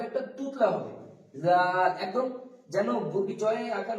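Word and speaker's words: ز: মতো আমরা করবো র তারপর আসছে যা যেমনটা আপনাকে শিখিয়ে দিছিলাম আপনি সঙ্গে সঙ্গে বলুন যা যা এটা নিচে বা উপরে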